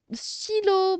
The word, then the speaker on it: stylo: Le mot stylo, bravo stylo. Stylo, stylo. Regardez, c'est la lettre Y, mais ça se prononce I.